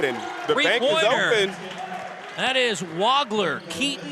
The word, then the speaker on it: Wagler: the bank that is wagler Keaton wagler spelled w-a-g-l-e-r but pronounced wagler more of an o w o sound and he's one of